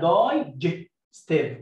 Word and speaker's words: digestive: عارفين وين ذا ليدر E comes after the letter G, we pronounce the letter G, J. حرف الجي لما يجي ورا I أو E أو Y بنطول J, J, J. يبقى اسمها digestive، والI ساكن E هنا